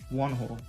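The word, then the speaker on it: Whee In: see one hole um that's the way i believe you say it it's like you don't usually pronunciate the h's like really pronounce like pronunciated like that so it should be like one hole like that it's like you can still tell the h is there but you don't so one hole you know you gotta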